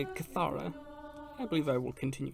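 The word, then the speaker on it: kithara: She sang and played the Citra, and her music was so holy that no demon could bear to hear it.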